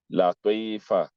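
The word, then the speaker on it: لطيفة: You can pronounce after me. Tariq. Taha. Fatima. Fatima, not Fatima. Fatima. Latifa. Latifa, not Latifa.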